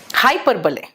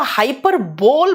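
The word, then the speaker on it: hyperbole: हाइपरबले, ध्यान से सुनना बेटा, हाइपरबले को हाइपरबोल भी बोलते हैं कुछ लोग, है ना, लेकिन इसका प्रोनाउंसिएशन हाइपरबोल नहीं है, हाइपरबले है।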